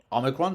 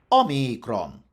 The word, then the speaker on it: omicron: The Greek word was omicron, with a long I. In Latin, that meant that omicron had to be stressed on the second last syllable. The only stress allowed in Latin was omicron. And UK English preserved the Latin stress on omicron in its traditional pronunciation of the letter, which resulted in a long I, omicron, originally.